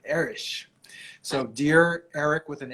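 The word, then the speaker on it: Erich: So the Germans pronounce it Erish.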